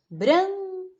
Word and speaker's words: branca: Branca, branca. É o bran, não é? Ó, você não fala branca, você fala branca. Então, o bran é a tônica.